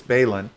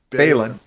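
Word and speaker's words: Baylan: But so with this dude, Ray Stevenson's character, it rhymes with Babylon, but it's Balin. Balin. Mow your lawn, Balon.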